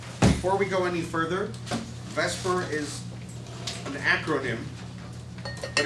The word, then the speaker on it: VSEPR: lose it it will be a chart of Vesper before we go any further Vesper is an acronym but it's actually beer but